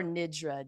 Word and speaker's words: nidra: And is it Nidra or Nidra? Denise, you have to correct my pronunciation there. Well, if I was a true Indian, I would say Nidra.